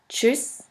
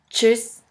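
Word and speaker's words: tschüss: ha t st ha which is simply pronounced like a CH in english here we have the example of the word voyage voyage which means German and of the word choose choose which means by voyage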